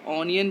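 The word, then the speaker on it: onion: अ से स्टार्ट हो, जैसे ओ से आपका ऑनियन भी होता है ना, ओ साउंड जो है यहाँ पे व ना दे के अ दे रहा ना, ऑनियन, तो अगर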